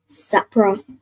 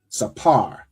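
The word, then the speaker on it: ספר: Is it sapra? So not not sapra but that last part. So sa and then the p and ra are joined. Right. So what sound would that make with the p and the ra joined?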